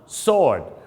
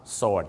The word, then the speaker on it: sword: นะ ครับ ผม So ดาบ ไม่ ได้ ออก เสียง ว่า sw หรือ สว นะ ครับ ออก เสียง ว่า Sword ครับ ผม Sword ยาน พาหนะ ครับ ญาน